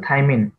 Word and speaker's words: থাইমিন: টি টা হচ্ছে থাইমিন এটাকে আমরা উচ্চারণ করি থাইমিন অনেকে এটাকে লেখে হচ্ছে